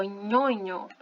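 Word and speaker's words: ñoño: E ela tem som de NH, tá bom? Ela tem som de NH. Então, por exemplo, aqui, ó, nhonho, chorão, né? Nhonho.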